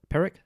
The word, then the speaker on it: Pyrrhic: said it's a, I don't know how to pronounce this, a Pyrrhic victory? Pyrrhic. Yeah. Pyrrhic victory, P-Y-R-R-I-C.